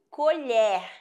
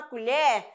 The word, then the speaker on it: colher: tá bom a questão colher né e colher ó colher verbo ação o e vai ser fechado quando eu falo da colher me empresta uma colher o colher substantivo esse